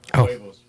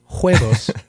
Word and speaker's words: huevos: The H is silent. Yeah. You went more W.